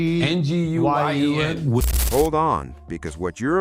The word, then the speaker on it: Nguyen: How you pronounce it, Chris? It's a Vietnamese name. Nguyen.